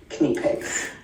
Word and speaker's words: Knipex: But the official German way of pronouncing things like that, and the way I know it, is Knipex.